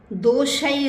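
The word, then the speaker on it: दोषैः: दोषई रतई, देखिए जहाँ दो मात्राएं हैं आई की तो आई का उच्चारण करेंगे।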